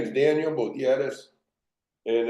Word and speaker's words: Butierez: Congressman who's pretty sick so Daniel you're better pronouncing the names than I am so Daniel your name my name is Daniel btis and it's nice to be here Cynthia and